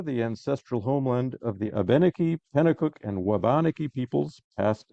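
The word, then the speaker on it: Abenaki: Indina throughout the generations by the way I was recently told by an aeni speaker that this is how abeni and wabanaki are pronounced I hope it's correct that's what I was told uh this event is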